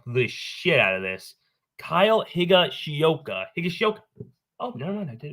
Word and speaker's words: Higashioka: say and and finally a catcher I'm gonna mispronounce the out of this Kyle Higa shoka higashioka oh never mind I did it just right